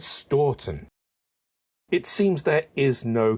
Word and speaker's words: Stourton: place names and finally I got the same pronunciation twice sturon a while ago I had asked about this